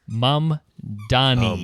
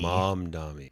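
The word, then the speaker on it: Mamdani: Mom like mama and then Donnie.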